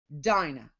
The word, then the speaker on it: Dinah: and called her name Dinah or Dina however you want to pronounce it ah hey there we